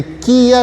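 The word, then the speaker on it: きゃ: दो अल्फ़ाबेट्स को मिला के हमने एक अल्फ़ाबेट बना दिया, और ये हो गया, ये किया नहीं हुआ, ये हो गया क्या।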